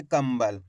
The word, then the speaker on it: कंबल: मिलके बन जाएगा कंबल इस प्रकार से अपन इसको पढ़ेंगे कंबल यानी कि आधा मा का उच्चारण करेंगे क्लियर हो गया चार